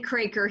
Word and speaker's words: Kroeker: Now, Kroeker, I hope I spelled that and pronounced that right? Am I okay? Yeah? We say Kroeker here, but okay.